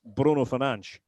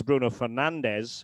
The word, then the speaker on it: Bruno Fernandes: And in Portuguese, the way he says his own name is Bruno Fernandes.